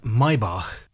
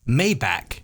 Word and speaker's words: Maybach: of the mercedes group and although it is pronounced maybach maybach is the way most americans butcher it a